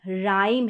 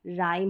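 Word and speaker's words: rhyme: है यहां पर उच्चारण आर एच को भी र पढ़ेंगे राइम है अब यहां पर क्या है कि एच साइलेंट है राइम हो गया फिर यहां पर डबल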